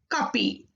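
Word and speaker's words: 커피: There is no fa in Korean language. That's why it is kapi.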